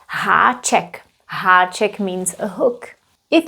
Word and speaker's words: háček: These letters have a little crown that's called haček. Haček means a hook. It means that that letter is pronounced a little bit differently than the previous one.